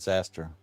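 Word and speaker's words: Xastir: How do you pronounce Zaster? Is it X-Aster? I would call it, I call it Zaster. Or Please Exaster.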